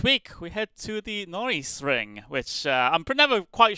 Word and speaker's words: Norisring: chat many a time it's like Lando Norris so we actually called it the Lando Norris ring of the year uh so that's how I would pronounce it Norris ring it is